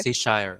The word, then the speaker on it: Cheshire: Tama ba ang pag-pronounce, sir? Cheshire, okay.